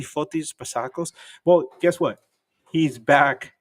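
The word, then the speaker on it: Fotis Bazakos: I want to say his name correctly, Fotis Basakos.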